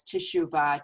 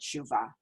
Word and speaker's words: Teshuvah: practice of chuva and chuva is pronounced and you know said in two different ways so many of us know it as tischuva t-e-s-h-u-v-a-h and many of us also just call it shiva and so which is